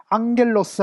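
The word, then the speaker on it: ἄγγελος: 그걸 뭔가 하면 이제 감마 다음에 카파나 이런 것이 오면 이게 기억으로 이렇게 발음되는 게 아니라 이런 식으로 이제 이형으로 발음이 되는 겁니다. 그렇죠? 앙겔로스 하면 이제 감마가 두 개 붙어 있는데, 그것을 앞에 거는 뭐예요? 기억을 하고 뒤에는 이형, 이렇게 씁니다.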